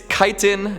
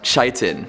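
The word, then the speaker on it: chitin: Scott Stoner says “It’s KI - tin not CHI - tin.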